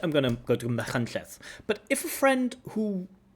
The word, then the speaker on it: Machynlleth: And there's a place in Wales, for example, called Machynlleth. Now, Machynlleth is in the Welsh language; it's not in the English language.